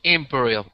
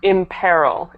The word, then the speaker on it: imperil: it's dis appearance word Imperial what does it mean it's imperil imp Peril imp Peril sorry sorry no